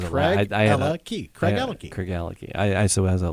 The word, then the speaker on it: Craigellachie: Craigellachie. Oh. You try. All right. Craigellachie. Got it. Nailed it. Craigellachie. Thank you. Thanks. Craigellachie. All right. Craigellachie. I was Craig, I had Ella, key. Craigellachie.